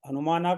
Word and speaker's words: हनुमाना: और फिर ह हनुमाना का ह अस्वर है। माना, माँ भी दीर्घ है और ना भी दीर्घ है। तो हमें इनको इसी प्रकार से पढ़ना पड़ेगा।